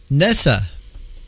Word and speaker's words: NASA: side of this broadcast Nessa that's how you say it NASA not NASA NASA will study the